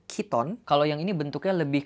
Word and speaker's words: chiton: Kita maju ke tahun 470 sebelum Masehi, ada yang namanya chiton, tapi ini kayaknya bacanya kiton.